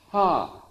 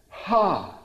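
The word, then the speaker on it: ה: say the letter he it's actually pronounced in Hebrew ha which is pure breath ha and it's pronounced if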